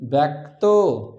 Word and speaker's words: ব্যক্ত: এখানে বয় জফলা কয়তযুক্ত ব্যক্ত, উচ্চারণ করি ব্যক্ত।